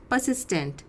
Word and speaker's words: persistent: हैं जिसे बोलते हैं परसिस्टेंट। इसमें ध्यान रखिए आर जो होता है वो साइलेंट होता है। स्पेलिंग याद करिए इसकी, PERSISTENT, PERSISTENT। प्रोनाउंस करेंगे इस वर्ड को परसिस्टेंट।